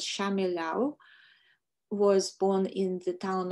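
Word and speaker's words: Shchemelev: Leonid Shemilov was in Belarusian, it should be pronounced as Shamilov, was born in the town of Vitebsk in 1923.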